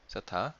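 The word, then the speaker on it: θ: 세타. 이 세타라고 읽어요.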